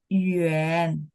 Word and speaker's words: yuan: Yuan itu adalah jauh ya, berarti tulisnya Y-U-A-N. Memang dia bacanya ada ya, Y-U-E-N, tapi nggak ada bahasa Mandarin pinyin Y-U-E-N, adanya Y-U-A-N, yuan.